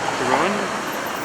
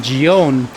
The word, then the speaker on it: Gion: It's called Gion, not Gion.